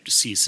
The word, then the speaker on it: CEIS: No, we would fund it through what's called voluntary cease. CEIS, cease is the way I pronounce it.